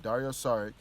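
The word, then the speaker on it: Dario Šarić: sorry sorry Dario sorry right that's how you pronounce his name Dario sorry Robin Robert Covington Jerryd Bayless and a second-round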